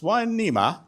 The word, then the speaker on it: Hueneme: Hueneme, pronounced Hueneme, is not pretty.